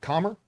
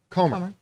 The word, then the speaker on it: Comer: it was free guys jody i was mispronouncing commerce comer jody comer who of course